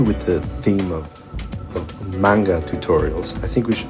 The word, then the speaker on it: manga: Uh, I'll henceforth be pronouncing it like manga, more akin to the sound it would produce in a Japanese context.